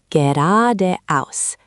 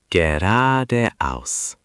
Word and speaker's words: geradeaus: The emphasis is on the ra and the aus. Geradeaus. The ge is quite soft. Try again. Geradeaus.